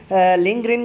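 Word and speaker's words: Lindgren: है वो यानी ऑस्ट्रेड, इसमें डी साइलेंट पर करके भी पढ़ सकते हैं और डी को साथ मिला के भी पढ़ सकते हैं, लेकिन अगर डी को साथ मिला के पढ़ेंगे तो फिर आपने जो है ना वो ग्रेन और डी के जो है ना बीच में हल्का सा वक्फा करना है, और अगर डी को साइलेंट करेंगे तो फिर लिंगरिन आपके एक्चुअल वर्ड जो है ना उसमें फिर वक्फे की ज़रूरत नहीं है।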